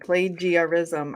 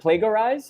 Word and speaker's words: plagiarism: just a weird word plagiarism i always say it like it sound like looks right you know i've heard i've heard plago rise i've heard plague um so let's just